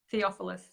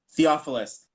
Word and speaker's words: Theophilus: Theophilus. Theophilus.